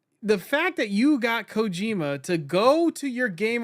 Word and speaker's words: Kojima: Kojima?